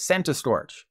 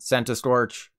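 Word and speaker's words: Centiskorch: it's a centipede and you don't say centipede so the official pronunciation is sent to Storch centipede sent a Scorch yeah sometimes I do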